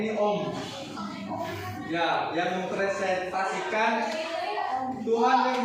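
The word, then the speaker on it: ॐ: dibacanya ini om ya yang mempresentasikan Tuhan yang maha esa, Brahma atau pencipta pencipta Wisnu.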